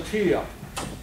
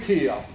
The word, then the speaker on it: Tio: For example, one of the primary teachers, Lorenzo Tio Jr., played with Armand Piron's band. Tio is spelled T-I-O.